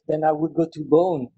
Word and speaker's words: Beaune: And if I want to go for a wine trip, then I would go to Beaune. Beaune, it's a beautiful small city. It's the... How do you spell that word?